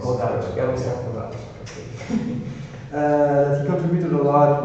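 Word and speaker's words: Włodarczyk: Jarosław Vlodarczyk, you pronounce it. Vlodarczyk.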